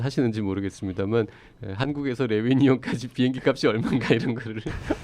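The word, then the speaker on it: Réunion: 내 손 놓치마를 읽다 보면 하여튼 그 레위니용 영어로 읽으면 리유니온이에요. 리유니온이라는 스펠링인데 그거를 이제 레위니용이라고 불어식으로 발음을 하는데 그 섬을 찾아보게 되고요. 그다음에 다른 분들도 이런 짓 하시는지 모르겠습니다만 한국에서 레위니용까지 비행기 값이 얼마인가 이런 거를 얼마던가요?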